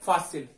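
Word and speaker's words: fácil: तीसरा एग्जाम्पल बिल्कुल वैसा ही है, फासिल, फासिल, फासिल, उच्चारण ज्यादा किस पे आ रहा है, ज्यादा वजन किस बात पे आ रहा है, फा पे, फा, फासिल, ठीक है, फासिल।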